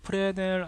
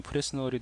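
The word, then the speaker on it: Fresnel: 이 옆에 보면 프레넬 IOR이라고 있습니다. 예, 프레스 뭐 그냥 읽으면 프레스널이 되는데 이게 S가 묵음이더라고요.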